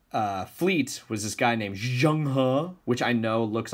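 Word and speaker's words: Zheng He: leader of their fleets was this guy named Zhang Han which I know looks like Zhang he but it's pronounced Zhang ha and today what you guys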